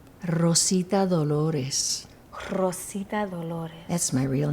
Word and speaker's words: Rosita Dolores: Rosita Dolores.